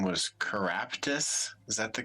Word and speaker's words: Keraptis: The wizard that we learned about last time, his name was Caraptus. Is that the correct spelling? I don't know how you spelled it, but pronunciation, yes.